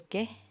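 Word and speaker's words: げ: This is ge. You pronounce it as ge.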